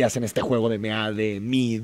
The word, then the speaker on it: Meade: Bueno, en mi caso yo siempre lo he llamado Mid porque según yo se pronuncia Mid.